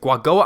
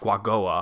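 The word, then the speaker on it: Quagoa: I think that's how you pronounce it, Guagoa. I'll put the actual spelling on the screen here, but I think it's pronounced Guagoa.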